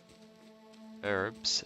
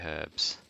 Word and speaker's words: herbs: herbs as well. I always used to say herbs. I realize now that I was wrong all this time. The H is silent.